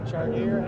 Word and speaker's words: Chartier: Chartier, is that how you say it? Yeah.